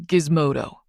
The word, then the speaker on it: Gizmodo: The name Jace Gizmodo. Uh, G I Z M O D O or Gizmo for short with a hard G.